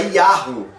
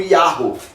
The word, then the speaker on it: Yahweh: No século XVI, a tradução do King James colocou ele como Jeová. Mas o termo mais provável é Yahweh. Mas também não tem 100% de certeza.